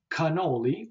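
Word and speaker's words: cannoli: significant and that is the C which could has a hard sound as an C Co c as an English K and some examples you may know would be canoli or terot then we have uh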